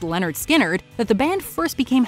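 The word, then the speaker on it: Lynyrd Skynyrd: scene it's because of this cut off pronounced leonard skynyrd that the band first became household names across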